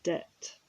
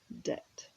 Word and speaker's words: debt: or an institution and the pronunciation is debt so there's a silent b debt and this person has